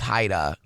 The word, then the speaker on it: Jaida: Is in Spanish, my name would be pronounced Haida. Okay. Because it's with a J.